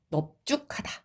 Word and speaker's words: 넙죽하다: 바로 넙죽하다, 넙둥굴다. 예외입니다. 얘네는 넙으로 발음돼요.